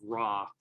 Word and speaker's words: Ra: He goes by the name of Ra. Like the god, or like raw? Like I'm feeling raw right now. Yeah, the W is silent.